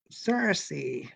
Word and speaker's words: Circe: Circe. So to the Joycean scholars, I hope that pronunciation is correct.